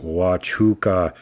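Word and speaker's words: Huachuca: actively look for and photograph these things Fort huaca uh US Army base Sierra Vista Arizona Fort pronounced watch hookah is a U.S Army Installation in Cochise County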